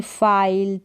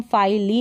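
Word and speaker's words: file: पर आप देखेंगे तो ई जो है लास्ट में आएगा और इस ई का उच्चारण होता ही नहीं है ये साइलेंट रहता है जैसे कि फाइल है अब इसको हम फाली नहीं पढ़ेंगे टाइम है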